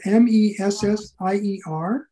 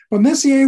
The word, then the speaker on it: Messier: i should define what messier's list is so it's spelled m-e-s-s-i-e-r charles messier french astronomer um from the 1800s